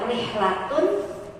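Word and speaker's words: رحلة: Dia maka bacanya harus ada tanwin. Rihlatun. Rihlatun itu menunjukkan bahwa makna umum rihlatun. Tapi ketika maknanya menyempit menjadi khusus, maka dia ditambahin al-ma'rifat, alif lam ya. Alif lam syamsiah. Jadi ar-rihlah.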